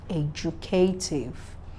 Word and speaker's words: educative: Then TIVE stressed on the third syllable from behind, educative.